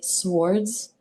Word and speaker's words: swords: reader and they say swords, it just brings me so much joyfulness. And I know that's silly, and I know the W is silent, like swords, right?